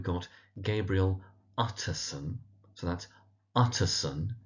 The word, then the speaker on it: Utterson: So that's Utterson. Emphasis on the first syllable Utterson. We have his cousin, Richard Enfield.